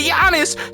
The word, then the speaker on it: Giannis: I can say Giannis correctly because that's how you say Giannis. Someone came at me on TikTok and said I was pronouncing Giannis.